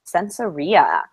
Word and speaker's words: Sensoria: Yeah, it's actually pronounced Sensoria, which is hard to.